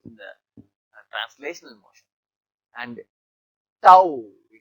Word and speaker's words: tau: Torque symbol is tau. Okay. So this is actually momentum force. So Newton meter. Torque is measured in Newton meter. So this is pronounced as tau.